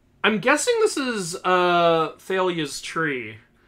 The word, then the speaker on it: Thalia: guessing this is uh thalia's tree Thalia Talia I swear I heard Rick pronounce it Thalia at one point that's